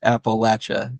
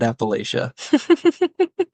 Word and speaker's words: Appalachia: least for this area of the country it's pronounced Appalachia not Appalachia there you go that's a big one if